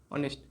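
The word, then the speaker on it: honest: इसका जब हम प्रोनाउंसिएशन करेंगे तो इसको हम बोलेंगे अ नेस्ट। ऑनेस्ट।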